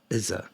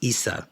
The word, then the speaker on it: Isa: Izza, that's Isa, my bad. They literally tell me how to pronounce it. I love that. So Isa, pronounced Isa, I said Izza, means ice, and is one of the elder Futak.